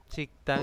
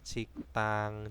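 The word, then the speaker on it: 식당: Sikdang itu adalah rumah makan, tetapi dibacanya bukan sikdang, tapi apa ya Robun? Siktang.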